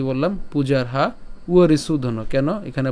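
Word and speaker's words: পূজার্হাবরিসূদন: তো ব্যতিক্রম উচ্চারণ হবে এর তাহলে কি বললাম পূজারহা উরি সুধন কেন এখানে ব এর উচ্চারণটা কার মত হবে উয়র মত হবে তাহলে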